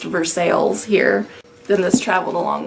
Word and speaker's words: Versailles: Missouri and a Versailles Missouri and yes it's pronounced Versailles here sinneth traveled a long way to get